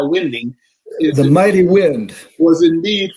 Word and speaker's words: Winding: Kai Winding, or as you pronounce his name, Winding, probably would be the correct pronunciation, but in the jazz world, we know him as Kai Winding.